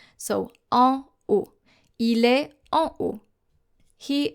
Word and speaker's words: en haut: So therefore you should say, to say upstairs or up there, en haut. En haut. I have heard some students say en haut, which is wrong because O is a silent H. So en haut.